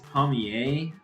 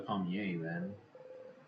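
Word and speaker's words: palmier: to look this up I think it's pomier because a lot of times when there's an r at the end of a word in French it's uh silent so says it's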